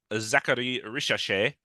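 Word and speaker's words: Zaccharie Risacher: The Hawks took Zachary Richachet.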